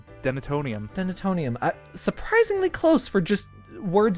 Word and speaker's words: denatonium: Did I say it right? Denatonium.